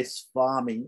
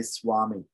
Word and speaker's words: swami: said you can say spammy or you can say swami you know there's a